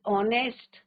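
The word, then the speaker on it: honest: तो यहां पे हमें एक्सेप्शनंस भी दिखाए हैं कि ऑनेस्ट राइट? तो ऑनेस्ट क्या होता है बच्चों? आर एच is silent and आर एन ऑनेस्ट।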